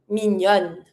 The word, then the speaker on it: mignonne: And here you have to double the N before putting your feminine E. Mignon, mignonne.